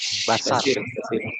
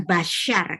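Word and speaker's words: בשר: Basar. Basar. Ini basar, bukan basyar. Karena apa? Titiknya di mana? Di kiri. Sebelah kiri. Titik di kiri bacanya basar.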